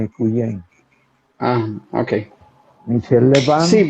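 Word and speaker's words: Quyen: Michel Levan Cuyen, Michel Levan. sí, Cuyen, Michel Levan Cuyen, se escribe Q-U-Y-E-N, Cuyen.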